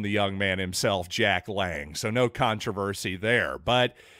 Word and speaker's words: Lange: yes it is pronounced Lang ladies and gentlemen don't let the silent e at the end fool you that's firsthand information by the way from the young man himself Jack Lang so no controversy there